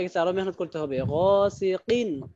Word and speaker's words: غاسق: আরো মেহনত করতে হবে গাসিকিন কিন কফ এটা কাফ না কফ গাসিকিন ইযা ওয়াকাব আমিন শাররি